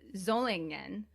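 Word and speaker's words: Solingen: name is referring to zolangn which is spelled s o l i n g e n but is pronounced with both a z in german and in japanese okay which is a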